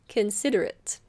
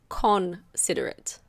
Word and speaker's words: considerate: Considerate. Be careful of the pronunciation here. It's not considerate. The O is awah. So, it's considerate.